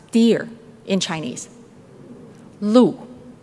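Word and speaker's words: 鹿: pronounce deer in Chinese Lou another word with the same pronunciation means High position in life like Fu show that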